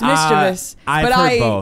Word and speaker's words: mischievous: It's mischievous. I used to say mischievous. Did I combine it with another word? No, mischievous. It's totally spelled like it should be mischievous.